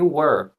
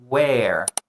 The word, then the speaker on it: were: Uma dica, muitos dos alunos erram na pronúncia de were. Os alunos querem pronunciar where e where é uma w.